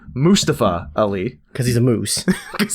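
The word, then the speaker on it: Mustafa Ali: of well obviously led by uh let me pronounce this correctly mustapha ali because he's a moose because he's a moose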